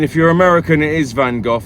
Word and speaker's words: Van Gogh: you're American it is Van Gogh not Van Gogh it's Van Gogh you pronounce the GH as f as in enough Van Gogh for anyway sorry I'm